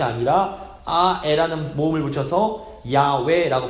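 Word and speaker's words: 야훼: 를 붙이는 것이 아니라 아에 라는 몸을 붙여서 야외에 라고 발음하는 것이 더 정확한 발음 이라고들 주장을 합니다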